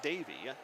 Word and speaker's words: Deivy: His first name is Deivy, but simply pronounced Davy.